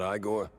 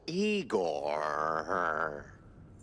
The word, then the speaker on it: Igor: Igor? Not Igore? No, Eigor.